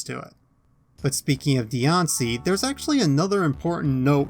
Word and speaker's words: Diancie: you may have noticed the latter part of dion see's name is spelled c-i-e which would theoretically be impossible to write in japanese given that the s-section of hiragana and katakana has a she instead of a c but as it turns